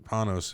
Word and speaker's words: Panos: Panos, and he said it was like from pianos.